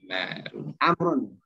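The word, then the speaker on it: عمرو: Maka kalau begini mereka bacanya Amrun nih. Ini waw cuma tambahan, waw-nya mesti dibaca. Ya. Seperti nggak ada waw nih ya.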